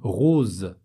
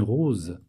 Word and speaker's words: rose: Une rose. Une rose. Un poison. Donc voilà la règle. Quand le S est entre deux voyelles, on le prononce comme un Z.